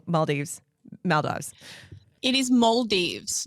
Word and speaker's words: Maldives: that part you did then go to the mives I'm gonna say it wrong Mal Dives Maldives it is males not Maldives not mives